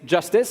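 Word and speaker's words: Jstz: is tesos X so jsz pronounced Justice is an experimental rollup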